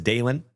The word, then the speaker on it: Dalen: My name is Dalen. D A L E N like Dale plus N.